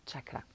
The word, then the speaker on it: chakra: prononcer le mot correctement comme en sanskrit c'est chaka chaka et les de chaque